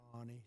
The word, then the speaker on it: Fani: You know Fannie Willis. Right, Fannie Willis. She treated you very unfairly. She goes by the name of Fani, even though it's F-A-N-I. She wants it pronounced Fani.